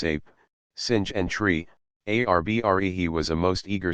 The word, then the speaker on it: arbre: in the same way he was taught to pronounce ape singh and tree arbre he was a most eager student and in